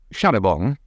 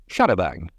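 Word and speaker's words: charabanc: Since it had been borrowed from the French nearly 100 years earlier, the committee decided that an English pronunciation was in order, thus Sharabang, and not Sharabong. It wasn't long before the committee, which became a much bigger and grander affair, decreed that after all it should be pronounced as in French, back to Sharabong, only to change its mind yet again and revert to Sharabang.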